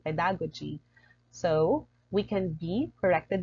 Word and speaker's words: pedagogy: It's pedagogy, pedagogy. The usual stress of this word is pedagogy. When I was unfamiliar with this word, I often just simply say pedagogy.